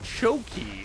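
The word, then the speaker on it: Tchotchke: In case no one has pronounced it, choky. It's a Yiddish word that refers to a useless knickknack.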